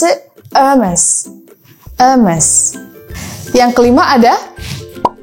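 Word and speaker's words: Hermès: Okay, so we can pronounce it Hermes.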